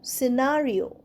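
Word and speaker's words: scene: সিনেও সি উচ্চারণ হচ্ছে না। এসইনর মত উচ্চারণটা হচ্ছে।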